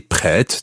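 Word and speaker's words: prête: say to anna escuchette that's p r e with a circumflex t e pret and i say pred to anna because she's female so prett is the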